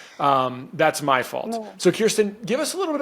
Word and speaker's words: Kirsten: Kirsten. I keep saying Kristen. I mean Kirsten.